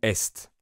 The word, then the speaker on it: est: Si vous lisez EST, comment vous prononcez le mot? Et ou est? Même réponse, les deux sont corrects parce que c'est soit la conjugaison du verbe être, elle est, soit l'est, l'opposé de l'ouest.